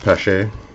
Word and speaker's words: Pache: I realized after time I've been saying the wrong way. Christian Pache is one of them. I was calling him Christian Pache for about a year and a half until I finally heard it pronounced Pache.